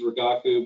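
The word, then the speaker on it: Rigaku: and then of course you've got the lovely ragaku which again is a is a good instrument um it's important to know that the proper pronunciation is ragaku because if you try to order samples and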